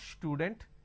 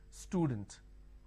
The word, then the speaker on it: student: For example, if I have the word which is student, a lot of people make a mistake and they pronounce this with a sh. Student. It's not student, it is student.